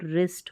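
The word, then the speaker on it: wrist: चारों ओर, their brothers, यहाँ पर WR में W साइलेंट हो तो रिस्ट हो गया, ठीक है, जब भी WR साथ में आते हैं तो W साइलेंट होता है, रिस्ट पढ़ेंगे। मतलब कि ऑन दिस स्पेशल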